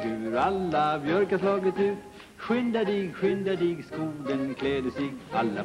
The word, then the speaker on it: skynda: Listen, Ingemar, there's one word in there I have to be, I've been trying to pronounce. S-K-Y-N-D-A.